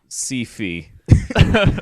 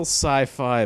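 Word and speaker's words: Syfy: it's so sci-fi yes is now being renamed CFE no it's it it's spelled phonetically Sy yfy why so it's still sci-fi but my goodness and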